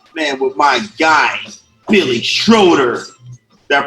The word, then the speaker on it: Schroeder: 1st with the man with my guy billy schroeder that pronounced your last name right you did hello